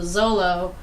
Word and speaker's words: Xolo: There's a breed of dog that's called the Zolo. It's spelled Xolo, but it's funny because it's a hairless Mexican dog.